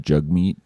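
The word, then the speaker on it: Jagmeet: And did you know it's actually pronounced Jug Meat? Jug Meat.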